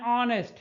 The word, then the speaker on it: honest: an l plate an honest man c an hour here h is silent and honest here h is also silent if you will look